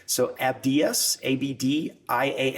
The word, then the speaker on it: Abdias: I know the pronunciation is going to going to throw people off, so I'm going to go straight to an English pronunciation. So Abdias Abd I A S Nasiman N A S